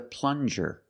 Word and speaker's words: plunger: This is a plunger. Plunger. Use the regular N and the J sound, like juice. Plunger.